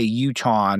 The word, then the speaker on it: Utahn: You're a Utahn.